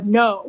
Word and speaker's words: Ngo: It's written by Jason Bieferman and Emily, I think her last name is pronounced No.